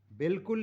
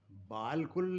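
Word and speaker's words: بالکل: हिंदी में भी लेकिन यहां ये अलिफ साइलेंट है यह बोली नहीं जा रही बिल्कुल लिखा जा रहा बाल कुल लिखकर बिल्कुल पढ़ते हैं प्रोनंसिएशन ऐसे ही मेरा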